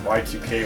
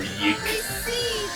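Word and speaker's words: YIIK: It's either depending on how much respect you have for the person, it's either pronounced Y2K or Yeek.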